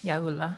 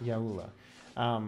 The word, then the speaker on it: Yaula: Is that how you say it? I said it right? Yes, Yaula. Yaula.